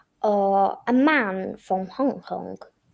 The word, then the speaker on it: Hong Kong: Uh a man from Hong Kong. Yeah. The pronunciation usually is Hong Kong. Well that's the English pronunciation. Okay. Syllable two stress.